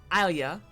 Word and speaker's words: Alia: 0, and I remember at first I was saying Ilya, and then I heard you say it, and I was like, ooh, I'm wrong.